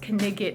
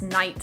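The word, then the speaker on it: knight: But it's easier in some ways because the sounds are always the same, for example, whereas in English, K-N-I-G-H-T is not pronounced knigget, it's pronounced night.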